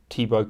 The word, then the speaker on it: Thibaut: belgium and congo uh thibaut courtois is tebow courtois i just thought i'd